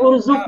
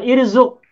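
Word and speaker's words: اُرْزُقْ: Nah, Bacanya urzuk ya, bukan irzuk.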